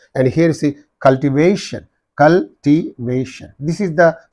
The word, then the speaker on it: cultivation: therefore conversation conversation right and here see cultivation cultivation this is the syllable preceding this suffix therefore on this imagination